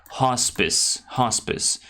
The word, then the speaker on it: hospice: So that means that she has a very serious illness, so she's on her way to a hospice. By the way, the pronunciation is hospice. Hospice, all right.